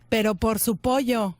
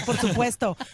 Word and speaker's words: por supuesto: Pero por su pollo. Of course I can. You don't say it like that in Spanish. You say por supuesto.